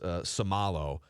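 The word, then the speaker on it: Seumalo: And then Isaac is pronounced Samalo.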